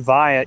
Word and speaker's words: vi: go to niagara falls i've never heard anything other than vine you guys are all wrong yeah it's definitely vi you know from berkeley